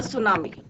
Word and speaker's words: tsunami: Chapter is the tsunami. इसमें क्या है हमारा टी क्या रहता है, साइलेंट।